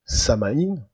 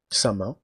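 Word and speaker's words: Samhain: Alors on peut faire remonter les origines d'Halloween à la fête de Samaïn, Samain, tout dépend comment on veut le prononcer, une fête païenne antique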